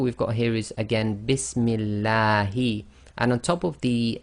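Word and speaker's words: بِسْمِ اللهِ: You cannot say Bismillahi. It has to be too long, so Bismillahi.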